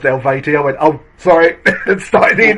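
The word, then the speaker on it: Eluveitie: the Origins album tour and um I had pronounced it aluvieti in front of the like singer the vocalist the bloke even that's the word I'm waiting for and he went uh it's it's pronounced Elvati.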